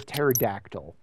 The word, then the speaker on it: pterodactyl: R is completely superfluous, sort of like the P in the pterodactyl. It's not pterodactyl.